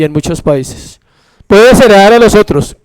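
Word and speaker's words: παῖς: Aquí usa otra palabra que es país, como se escribe país, pero con ese acento, país.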